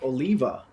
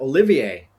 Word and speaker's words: Oliva: I mean, one of the words that I thought would be easy for English listeners to pronounce would be Oliva, and a lot of them pronounce it Olivier, and I'm like, wow, what? So there's other ones like that. So yeah, but yes, in Spanish the two L's make a Y pronunciation.